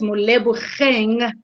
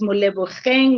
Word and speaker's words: Molebogeng: My name is Molebogeng, is spelled with a G. I hope you are able to pronounce that. My name is Molebogeng.